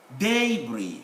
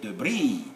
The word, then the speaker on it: debris: close the syllabus so we say frac uh fracta daybreak debris but americans say debris the breeze the stress changes that's part of the characteristic